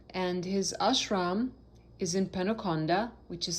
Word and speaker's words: Penukonda: spelled K-A-L-E-S-H-W-A-R, Kaleshwar, and his ashram is in Penukonda, which is spelled P-E-N-U-K-O-N-D-A, Penukonda, in Andhra Pradesh state in India.